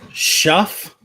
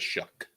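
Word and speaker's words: Shough: I I think it's shuff like like cough.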